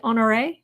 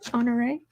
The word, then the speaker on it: Honoré: Kind of pronounced it with an A at the end. Oh, so it's like Honoré? Is that it? Okay, Honoré.